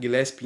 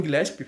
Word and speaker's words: Gillespie: Colin Gillespie, acho que é assim que se fala, né? Gillespie, enfim, um quezinho de italiano ali, imagino que seja assim que se pronuncie. Colin Gillespie, pelo menos assim que